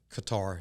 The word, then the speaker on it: Qatar: calls the giant sandbox what you call cutter or Qatar have you want to pronounce it and he was serving